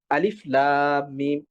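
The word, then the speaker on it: الم: এই হরুফে মুকত্তাহাতের ভিতরে একটা হরফ আছে আলিফ যেটাই কোন ধরনের মাদ হয় না। যেরকম আমরা বলি আলিফ লাম মিম।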